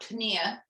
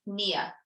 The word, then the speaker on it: pnea: You don't pronounce the P, so it's not pnea, it's Nia.